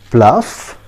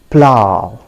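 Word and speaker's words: plough: you pronounce this word friends many of us pronounce it fluff plug i mean i don't know there are so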